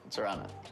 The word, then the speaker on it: Zorana: She's corrected me about 4 times tonight on how to pronounce her name. Zorana? Is that right? Zorana.